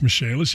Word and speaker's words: Michaelis: from the michaelis corporation spelled like michael is but pronounce michelle's if you need them